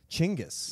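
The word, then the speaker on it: Chinggis: gotten wrong for centuries chingis yeah that's genus's correct pronunciation which I refuse to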